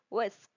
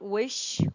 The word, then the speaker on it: whisk: Word number two that is whisk. Whisk. W I s whisk not wish or wish.